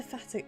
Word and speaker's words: fatigue: this can soothe the fatigue. I can never say this word properly. Fatigue. I always say it how it's spelled, and it's always wrong.